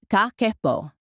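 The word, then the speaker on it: 家計簿: In Japan, there is a 100-year-old practice called kakebo, pronounced kakebo, and it translates simply to household financial ledger.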